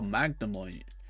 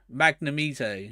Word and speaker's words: Magnemite: card I was like oh Magnemite magni me Tay magnumite yeah yeah I think that's what you said yeah Magnemite that's too funny yeah